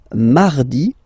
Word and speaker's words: mardi: Then mardi, mardi. So you can hear that you don't pronounce it that strongly, this R. Huh? Mardi, mardi, okay? You don't need to go too deep like mardi.